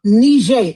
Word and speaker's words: Niger: France colonized Algeria, Tunisia, Morocco, Sagal, Ivory Coast, Mali, Nij. That's why they call it Nij. That's why they pronounce it like that cuz that's the French pronunciation of it.